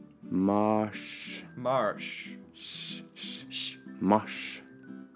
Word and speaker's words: mars: to read I would that looks like Mars right in in English that's Mars in Norwegian it's Marsh Marsh so that that's a